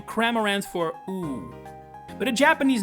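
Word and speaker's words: ウッウ: As in, the letter ‘u’ twice, pronounced oo-oo. It sounds absolutely bizarre, but this name is actually one of the craziest puns in all of Pokemon. So, the sound this name makes, oo-oo, is the Japanese onomatopoeia for the sound of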